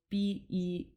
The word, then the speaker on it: Bij: So Sat Nam is a Bij mantra, and Bij is spelled Beej, and actually means seed.